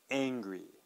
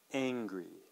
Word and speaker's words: angry: uh angry angry okay so it's really the the main sound is that vowel sound at the beginning and it's quite different we have the kind of the flat a sound and angry and flat U sounding hungry all right great so